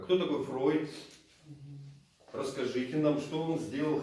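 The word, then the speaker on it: Freud: Например, в русском языке мы говорим Фрейд. Да? Хотя все мы знаем, что переводится как Фройд. Ну, в немецком. Не переводится, а произносится как Фройд.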